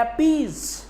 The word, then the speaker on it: appease: और एपीज का प्रोनाउंसिएशन कैसा, पीज is just like प्लीज।